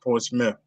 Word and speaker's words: Portsmouth: It spells Portsmouth, but they pronounce it Portsmouth, United Kingdom.